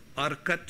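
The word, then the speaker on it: Arcot: from the north and not are cut is what it's pronounced as a RC ot north are cut in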